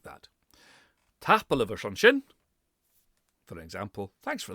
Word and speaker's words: tapadh: And people see EA and they think, Ia, TAPADH. No, very short. TAPADH.